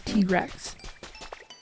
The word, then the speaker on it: Tigrex: The official pronunciation is T-Rex.